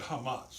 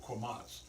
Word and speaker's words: chametz: Passover pesad it involves the Hamas or commas depending on your pronunciation and that simply means